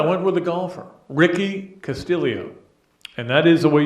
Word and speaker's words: Castillo: went with I went with the golfer Ricky Castillo and that is the way you pronounce it apparently Ricky Castillo playing in his